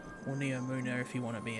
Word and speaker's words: Neomuna: cyberpunk planet called Neptune, but also this is Pneumonia, or Neomuna if you want to be accurate.